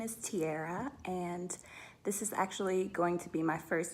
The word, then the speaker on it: Tierra: what is your full name my name is tiara yeah good name what does